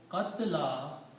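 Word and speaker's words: قتلى: And qatla, which is pronounced as this one, qatla means the one who has been killed, the one who has been murdered.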